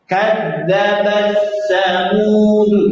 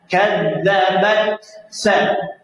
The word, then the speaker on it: كذبت ثمود: Contoh, kadzabat samud. Nah, itu keliru. Yang benar kadzabat sa. Kadzabat sa. Coba bat. Ada hamas sedikit, nafas mengalir. Bat. Sa. Ada 2 ya hamasnya.